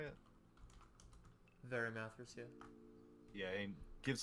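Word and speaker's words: Varimathras: Verimathras, yeah.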